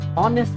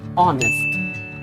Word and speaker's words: honest: Next is honest is strong. This is honest. Honest. H is silent here.